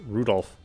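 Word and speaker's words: Rudolf: it's just double anyway this guy's name is pronounced rudolph he must hate grandfather for giving him that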